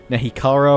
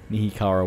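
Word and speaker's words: Nehekhara: down the comment section I know that in my preview video I was saying I was pronouncing these guys wrong there nahi kar warriors I think I was calling Nick power or something else you hear car warriors anyway knee Cara warriors there we go let's try and try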